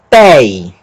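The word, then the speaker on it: τῇ: Acento no eta, então, té. Mas tem um iota subscrito aqui também, que a gente pronuncia. Tei.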